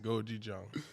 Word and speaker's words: gochujang: How you pronounce this? Gochujang.